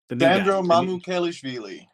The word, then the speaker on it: Mamukelashvili: I'm not going to even dare pronounce his last name. Sandro Mamukelashvili.